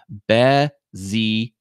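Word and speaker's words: Bézier: And that's how you pronounce this odd word, Bezier. It's French. It's a French word, and it's awesome.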